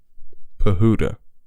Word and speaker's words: Pahuta: baseball and life mapping with coach pehota bahudha that's how you pronounce it all right so let's send it